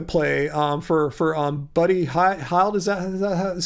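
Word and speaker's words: Buddy Hield: to make a play um for for um buddy heil does that is how you pronounce his name i just don't think um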